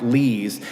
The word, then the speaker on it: Lies: I think his last name is pronounced Lees. It was beautiful. It really would have been appropriate. His paintings are great, and he would have done a great job. But the real reason I wanted him is because his last name is spelled L-I-E-S.